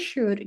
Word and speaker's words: should: Kemudian tadi sih aku dengarnya cult ya. Tadi bacanya cult bukan ya? Ya, correct me if I'm wrong, tapi harusnya dibaca could. Sama juga dengan teman-temannya, ini bacanya should, jadi L-nya hilang. That is English. Kadang dia membingungkan, ditulisnya L, dibacanya L-nya hilang gitu ya.